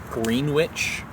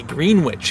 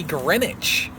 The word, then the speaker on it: Greenwich: It's like just say green witch. It's spelled green witch. It's literally right in front of your face. Why do you say Greenwich? Who's Gren? Why is he itchy?